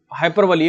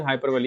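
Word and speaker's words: hyperbole: या फिर हम एक और बोल सकते हैं इसको, बहुत ज़्यादा हाइपरबली, एक वर्ड होता है हाइपरबली। हाइपरबली, ध्यान रखना इसका प्रोनाउंसिएशन हाइपरबली है, हाइपरबोल मत करना।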